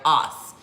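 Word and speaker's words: Ås: won't say it right, Os. It's just A-S. There's a little, accent mark over the A, Os, A-S. Not Oz, although maybe it is pronounced that way.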